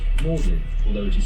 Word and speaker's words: Magdalene: It is named after Thomas, Lord Audley of Saffron Walden, and is pronounced Magdalen, although it is spelt Magdalene.